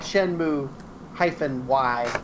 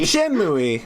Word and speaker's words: Shenmue: I was pronouncing it Shenmue-Y, and I realized it didn't sound like I thought that it says... I thought that it was pronounced Shenmue. Shenmue!